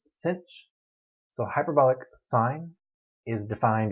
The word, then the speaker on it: sinh: h following it and i pronounce that cinch like i'm going to pinch you it's cinch so hyperbolic sine is